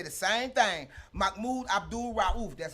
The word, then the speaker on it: Mahmoud Abdul Rauf: Mahmoud Abdul Rauf, that's how you say it, was the first